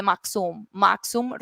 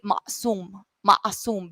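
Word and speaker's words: maqsum: Okay, the first rhythm that we're going to study is the maxum rhythm. Some people say ma'asum because the q is silent. Okay, so ma'asum or maxum.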